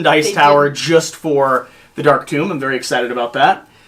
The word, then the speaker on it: Dark Tomb: instinctively want to say tome, and I apologize in advance. I shouldn't confuse you with your dyslexia. It is Dark Tomb. I just instinctively say tome.